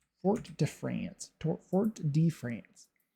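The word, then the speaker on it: Fort-de-France: Fort Def France. Fort de France to Fort de France is the correct pronunciation.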